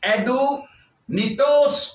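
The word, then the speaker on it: ἀδύνατος: کیا ہے۔ اب ناممکن کا یونانی لفظ ہے ایڈونیٹوس۔ اس کے سپیلنگ میں آپ کو بتاتا ہوں، ADUNATOS، ایڈونیٹوس، اور یہ یاد رکھیے 102 نمبر کا یہ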